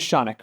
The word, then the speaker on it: Shanik: My name is Shanik, rhymes with Sonic, and I've been a plaintiff's litigator for almost 10 years.